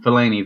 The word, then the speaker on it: Fellaini: and phthalate and say his name whatever Fellaini Fellaini thank you uh played well for him anyway